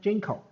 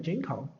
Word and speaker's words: Jinko: We named it Jinko. So why do we call it Jinko? Since it's a framework to generate code, it pronounced similar to Jinko tree.